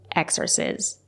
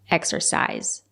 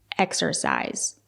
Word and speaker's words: exercise: extras is my creativity it's not correct to say exorcism it's pronounced exercise use the long I exercise it can be a